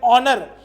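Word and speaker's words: honour: तो जब भी एच की प्रोनाउंसिएशन ना हो और लेकिन वो शुरू एच से हो, जैसे ऑनर, आर, ठीक है, ऑनेस्ट, इन सब के साथ इसलिए हम लोग एन वर्ड का यूज करते हैं.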